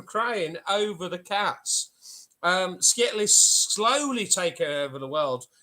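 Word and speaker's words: Skttl: sully and i um so skittle s-k-t-t-l s-k-t-t-l pronounced skittle is the tiny cat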